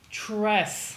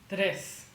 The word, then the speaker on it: tres: Tres. Pretend that you're not saying tres. Pretend that you're saying this word instead. Today's. It's not literally the same sound, but it's almost identical.